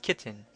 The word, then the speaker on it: chitin: The four polysaccharides are starch, glycogen, cellulose, and chitin, sometimes pronounced kitten.